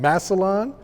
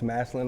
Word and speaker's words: Massillon: back to Ohio um correct me if I mispronounced man massalon you said it Mass Masson massin yes massin Ohio okay okay so I